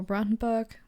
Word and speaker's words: Brandenburg: So, Brandenburg, or Brandenburg, depends on which way you want to pronounce it, is located in the very east of Germany.